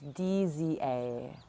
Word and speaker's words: DZA: But yes, today is our 5th syllable, and this beautiful, powerful syllable is DZA. It's DZA.